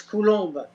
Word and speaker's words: Coulombe: I think I've been pronouncing Colombe, and it's not. It's Colombe, isn't it? No, it's Coulombe.